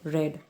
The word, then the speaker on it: read: have not read right read past participle of past tense same we just pronounce it red next one myang I